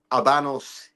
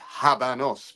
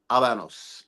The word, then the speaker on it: Habanos: this thing about doing Abanos histories and let me correct myself and let me put it out there. I have been asked very nicely to pronounce properly. So you don't pronounce the H.